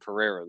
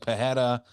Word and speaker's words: Pereira: So I've been right saying Pereira this whole time. Yes. Love it. Yeah, I know a lot of people out there are like Pajeda. I love Alex Pajeda. He's my favorite fighter. It's like, dude, that's not how you fucking say his name. He doesn't even say his name like that.